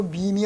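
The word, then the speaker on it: meme: MEM이라고 쓰고 밈이라고 읽어요. 밈이라고. 나온 지 한 15, 16년, 거의 20년이 훨씬 더 된 단어인데 그래요? 요 밈이 얼마나 중요한가가 우리 사회를 선진이냐 후진이냐를 결정하는 열쇠예요.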